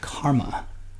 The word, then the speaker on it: CCRMA: and music and acoustics that's abbreviated ccrma and is sometimes pronounced karma and that's me in